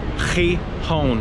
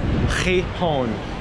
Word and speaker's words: Gijón: Now just a tip for you non-Spanish speakers, the Spanish people pronounce the city Gijón, like with an X. Gijón.